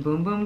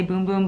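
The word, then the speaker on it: Bum Bum: sol de janeiro brazilian boom boom cream i know it looks like it does not say boom boom but that's how it's pronounced um this smells if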